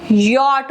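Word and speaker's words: Jot: जो हम common mistake हम कर देते हैं, मैंने आपको बताया था जे को यॉट बोलते हैं, जे को वाई प्रोनाउंस करते हैं, यॉट, नॉट जे।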